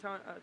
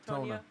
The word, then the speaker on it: Tona: I think it's how you say it, Tonya. Tona, like Daytona.